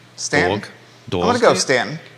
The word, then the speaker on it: Staunton: it's Stanton. Stanton. Dog. I'm gonna go Stanton. Stanton is how most people pronounce it.